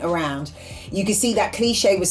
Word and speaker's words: Kléshay: So that but cliche is how you pronounced it with the accent.